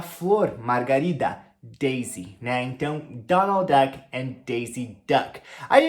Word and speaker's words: Donald: Pato Donald, então é Donald Duck, Donald, Donald. Presta muita atenção na forma da pronúncia do L, Donald, e o finalzinho do D, com som de D mesmo, Donald, Donald Duck.